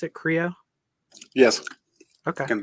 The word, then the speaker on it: Kreo: Is that how you pronounce it? Kreo?